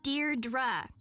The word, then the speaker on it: Deirdre: Deirdre. I know it's got that tricky second syllable, but I figured it out by age two.